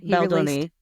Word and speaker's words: Baldoni: Justin Baldoni, how you pronounce his last name? Baldoni.